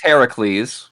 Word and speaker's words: Heracles: Which he does pronounce Heracles.